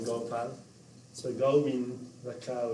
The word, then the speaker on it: Gopal: My name is Gopal. There are two syllables like Go and Pal.